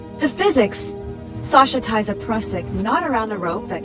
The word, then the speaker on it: Prusik: The Prusik knot, pronounced Prusik, is a real climbing friction hitch.